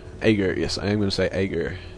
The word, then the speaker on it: Aeghrur: Aeghrur. Okay, that's going to be the pronunciation for the cast.